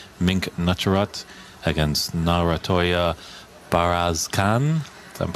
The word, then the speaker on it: Narantuya Bayarsaikhan: Mink Nutcharut against Narantuya Bayarsaikhan. If I'm pronouncing that correctly.